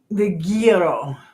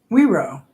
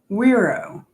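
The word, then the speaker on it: güiro: The gearro. Is that what it is?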